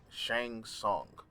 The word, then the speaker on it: Shang Tsung: shown however the hell you say his name is saying Shang Tsung that's how you say yeah hopefully yeah maybe